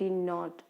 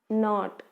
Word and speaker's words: knot: Not, KNOT, not. So you should not leave the K when you are right. But when we pronounce, that time the K should be silent, not.